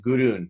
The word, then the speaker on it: Gudrun: So I pronounce it Gudrun, like without the D.